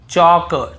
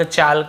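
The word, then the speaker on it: chalk: एल के पहले हो देखिए यहां पर भी हम टॉक टॉक वॉक वॉक चॉक चॉक यक यक फॉक फॉक ऐसे पढ़ कहीं पर भी टॉल्ट वाल्क चालक यल्क फॉल्क नहीं पढ़ रहे हैं लेकिन य गलत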